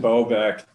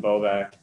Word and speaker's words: Bobak: for us yeah uh it's boback uh you know the the first way i suppose um actual polish pronunciation would be but uh bovac that's what that's what i go about here so you don't correct